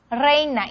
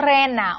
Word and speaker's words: reina: Reina. Reina y no rena o rina, ¿no?